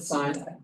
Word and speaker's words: sin: one is called sign it's abbreviated sin we still pronounce it sign yeah we've chopped up